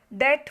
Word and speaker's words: debt: इट इज़ अ डेट finance, DEBT, जिसमें बी ये क्या है? साइलेंट लेटर है. तो डेट फाइनेंस.